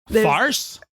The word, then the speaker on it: Faris: friend in college named Faris and Faris Faris so like spelled like Paris but with an F but it was Faris and another one of